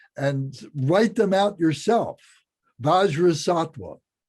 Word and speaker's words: Vajrasattva: Vajrasattva, Vajra, Vajra, Sat, S-A-T, Va. Vajra means the wisdom mind. Sat means a human being, means a being. And Va means a holy being. So it's Vajrasattva, it's Bodhisattva.